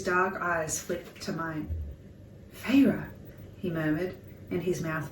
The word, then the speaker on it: Feyre: She fixed her wide eyes on me and said, "Please, Feyre, She drew out the 2 syllables of my name. Fay-ra. F-A-Y-R-U-H.